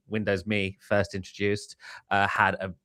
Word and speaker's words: Windows ME: Before we get too far away from Windows ME, which by the way, I've just learned was actually supposed to be pronounced as Windows MI.